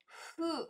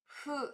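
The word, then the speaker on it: る: você amarrar rimo rimo o próximo é o ru ó de novo hu é como se fosse um sopro o ru ele é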